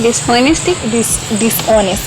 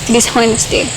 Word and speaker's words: dishonesty: Dishonesty? Dishonesty. H is silent.